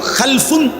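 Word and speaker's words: خَلَفٌ: একটা হলো খালফুন আর একটা হলো খালাফুন। একই শব্দ, শুধু উচ্চারণের মধ্যে একটু ভিন্নতা। মাঝখানে একটা লাম আছে, এই লামটার মধ্যে যদি সাকিন হয় তাহলে হলো খালফুন, আর যদি লামের মধ্যে জবর হয় তাহলে হলো খালাফুন।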